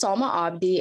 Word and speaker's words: Salma Abdi: You did pronounce my name right. My name is Salma Abdi, and I'm a senior at Century High School in Rochester, Minnesota.